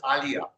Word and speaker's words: Alya: And she even pronounces it the same. She pronounces it as Alya.